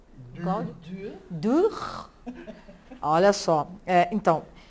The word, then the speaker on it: Dürer: Cujo autor é o Alfred Dürer, assim que se pronuncia? Cláudia? Dürer.